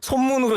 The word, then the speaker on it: 손문: 손문으로 이제 보통 손문 맞나요? 네, 손문으로 이제 공부를 했는데 이제 최근에는 중국어 발음을 그대로 쓰는 거를 이제 교과서에도 이제 그렇게 하니까 우리 청취자분들 중에서도 이거 보면은 누구 같은데 내가 그렇죠.